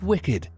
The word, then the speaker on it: WCKD: The notorious WCKD itself is pronounced as Wicked, because in the book, the acronym was WICKED, which stands for World in Catastrophe Kill Zone Experiment Department.